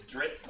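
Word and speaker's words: Drizzt: it's Dritz, not What do you Drizzit. call an undercover bug? That's spelled Dritz.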